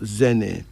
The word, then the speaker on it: Zene: Pronounced Zene.